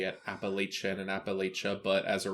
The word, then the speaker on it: Appalachia: Sorry for you who say it Appalachian and Appalachia, but as a real Appalachian man myself, we're going to say it correctly this episode.